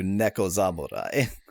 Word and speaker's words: Neko Zamurai: This game always gets transliterated as Neko Zamurai, which, if my understanding is correct, like, if you turn Neko Samurai into one word, that's how they would pronounce it.